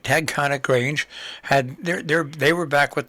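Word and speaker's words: Taconic: And, of course, this past weekend, the Tagconic, got to say it right, Tagconic Grange, they were back with their big plant and drummage sale.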